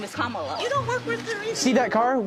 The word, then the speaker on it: Kamala: how to say her name earlier you said Kamala way she pronounces her name is Kamala you don't work with her either see that